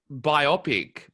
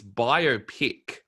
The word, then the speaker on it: biopic: going i see see i thought it was biopic but it's biopic ah okay i didn't